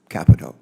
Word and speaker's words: Capito: Carper ranking member of capito so thank you actually believe it or not she pronounces it Capo Capo Capo yes Capo okay I'm sure your